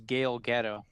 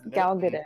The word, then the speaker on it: Gal Gadot: Yeah, Is that how you Gail. say it? That is how you say it. Whew, y'all made me worry. I thought it was Gail Gadot. No, I think it's Gal Gadot. Very much not. is very much 100% correct.